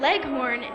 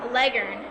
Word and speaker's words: Leghorn: chicken Pros know that Leghorn is actually pronounced Legend you can put petroleum